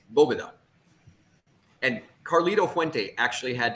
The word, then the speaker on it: Boveda: what is this Bovada it's not Boveda it's bobuda and Carlito Fuente actually